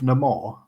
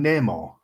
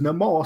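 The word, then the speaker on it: Namor: the the villain's name he calls himself no more everyone else calls him Nemo Neymar yeah he introduced himself as no more so that's how many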